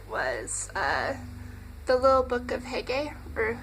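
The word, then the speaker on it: Hygge: Book of Hege, or Huga, or Huga. Don't really know how to pronounce that. Sorry if I butchered the name. It says, like, pronounced Huga by that, but I think it's more like Huga, anyways.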